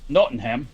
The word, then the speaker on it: Nottingham: park and I know I am no no Nottingham yeah no and yeah yeah you can't pronounce the a that much knowing him good